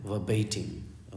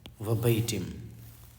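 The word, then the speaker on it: verbatim: तो इसका जो सही उच्चारण है वो है वर्बेटिम। ओके, वर्बेटिम, याद रहेगा।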